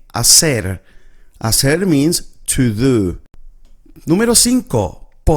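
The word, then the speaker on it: hacer: So the H is silent. So we don't pronounce it. We basically read it from here from the A. Asser as means to do.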